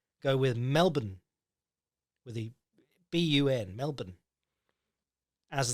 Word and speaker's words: Melbourne: shudder if they hear that for the authentic pronunciation go with Melbourne with the bun Melbourne as the one word